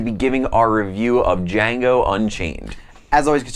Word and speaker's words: Django: 2013 epic geek out the only show on the internet where the D is silent I'm your host Chad I'm your host Rob and today we're going to be giving our review of Django Unchained as always you